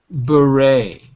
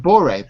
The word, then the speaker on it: beret: It's a beret. Beret. Beret. Beret. Boret. Boret. Not boret, but beret.